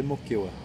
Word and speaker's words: Moquegua: aqui a moquea eh se escreve moquegua mas se lê moquea beleza é magrela tá